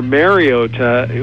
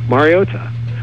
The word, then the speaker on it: Mariota: Or Mariota, which is, an incorrect way to say it, but it's really... it's one of those tricky, kind of very subtle. It shouldn't be as difficult as it is, but it's Mariota. Mariota.